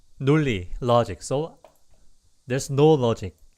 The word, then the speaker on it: 논리: 논리, but it can be sounds like 논리 usually. 논리. It's pronounced this way.